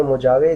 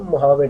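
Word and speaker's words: Mojave: अब ये मोजावे, जे इसमें साइलेंट रहता है, एच आता है, इसको प्रोनाउंसिएशन इसकी होती है मोहावे डेजर्ट।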